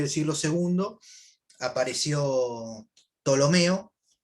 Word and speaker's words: Ptolomeo: el siglo segundo apareció ptolomeo que se escribe con p al principio hay una peli casi no se pronuncia es ptolomeo él hizo los primeros